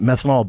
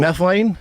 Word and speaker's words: methylene: And then I stumbled upon uh was it methanol blue? That's not how you say it. What is the actual methylene? Methylene. Methylene.